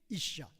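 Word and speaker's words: ishah: 이씨예요. 여자는 뭐냐? 이샤예요. 똑같은 단어인데 여성 발음만 들어가는 거예요. 이씨, 이샤.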